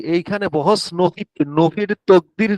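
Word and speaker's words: تأكيد: জি, এই যে এইখানে বহস নফি, নফির তকদির না তাকদির, এটা উচ্চারণটা কি কি হবে?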